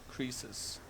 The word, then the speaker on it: Croesus: How do you pronounce that in English? Croesus? Wikipedia says, yeah, Croesus.